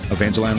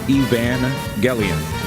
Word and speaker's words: Evangelion: pretty Wait, why you am I mispronouncing it? Wait, wait, wait, wait, wait. I I got this. They say Eva. So, Eva Evan Evangelion. There we go. There it is.